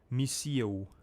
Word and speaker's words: Mio: Why do you guys keep saying my name wrong? It's Mio.